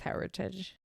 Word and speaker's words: Hermitage: don't know where her what Hermitage is pronounced as is Hermitage is Heritage they just take out the M anyway um that one